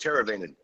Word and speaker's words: Teravainen: all week that we not sure how to pronounce your last name just butcher like everybody else does no it'sit's teravainen i think make it right I've been saying